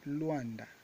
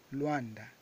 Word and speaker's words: Luanda: mesmas palavras em Kimbundu, como Luanda, que na verdade a pronúncia é Luanda, Luanda, Luanda. Essa é a pronúncia correta da palavra Luanda.